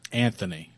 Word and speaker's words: Anthony: joshua you guys understand you guys noticed that we pronounced the th in that word right we americans anthony anthony that's how it's pronounced of interchangeable or foreign